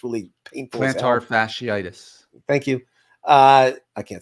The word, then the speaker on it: plantar fasciitis: Plantar fasciitis.